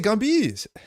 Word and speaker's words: Gambit: Even in French, we pronounce the T in Gambit. Non, c'est Gambit. C'est Gambit.